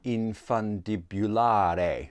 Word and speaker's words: infundibulare: which is angriecum infundibulare now i want to put an accent on the e because i'm deeply italian in my soul but perhaps it's a silent e which would make it infundibular but i think infundibulare has more of a ring to it more christmas cheer anyway this is the